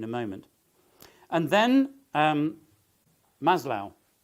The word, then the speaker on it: Maslow: moment and then um Maslow I'm told that's how he pronounces it I would have said Maslow you know Maslow's needs